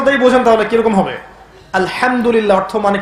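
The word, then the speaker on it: الحمد لله: আলহামদুলিল্লাহ অর্থ মানে কি? এখানে যে হা আছে, এটা কি বড় হা না ছোট? হুত্তি না হাওয়াস? হায়ে হুত্তি, এটাকে বলে বড় হা।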